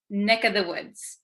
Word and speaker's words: neck of the woods: neck of the woods usually this of the V sound kind of disappears because V's are hard to pronounce so we tend to say NEC of the woods NE this of becomes just the vowel sound uh neck of the